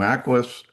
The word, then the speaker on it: AcquiOS: Now, Aquis does a See, I said it right.